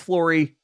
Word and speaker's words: Flory: It's not Florida. It's Flory.